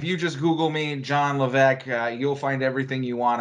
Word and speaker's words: Levesque: And the S is silent. I know I say Levesque. There's an S in there. I know that's confusing. It's silent.